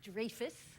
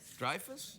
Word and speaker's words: Dreyfus: name Julia Louie Dreyfus it's not Dreyfus Dreyfus yeah like drives a car but Dreyfus Oh drive us really drive us to the